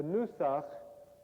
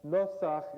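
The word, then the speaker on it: נוסח: A Nusach, Nosach in the proper Hebrew pronunciation that Bialik as a Yiddish speaker would not have used, is a traditional musical mode for chanting prayers in public worship.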